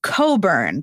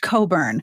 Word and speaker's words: Cockburn: last name is cockburn now for the record it is pronounced Coburn because is it really yes it's pronounced Coburn her parents are big